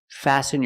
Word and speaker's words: fasten: Example, fasten your seatbelt. Fasten is a verb, and the T is silent.